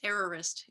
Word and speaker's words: errorist: have mastery of english versus errorist english uh which is perfect which which is purposefully rhyming with terrorists right like the idea